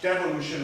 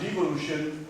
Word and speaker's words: devolution: Wales devolution, of course devolution rhymes with revolution and devolution rhymes with evolution.